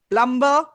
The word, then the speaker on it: plumber: B is silent and plumber.